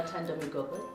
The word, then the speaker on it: Nothando Migogo: My name is Taynita and our guest today is Nothando Migogo. I hope I said it right. Yeah, Nothando Migogo.